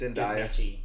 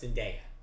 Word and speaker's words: Zendaya: It's Zendaya. It's Zendaya. Zendaya. Now, apparently Zendaya herself says that is how she pronounces her name.